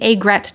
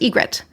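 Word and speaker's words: aigrette: Then we have one of my personal favorites, the agret tiara. Also sometimes pronounced egret.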